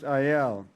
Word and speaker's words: Iyall: oh my grandfather he was frank a isle i it was it's mostly pronounced iel uh yeah okay i was raised with a